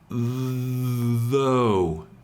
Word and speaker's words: though: So, again, the GH is mostly silent. So, though. though.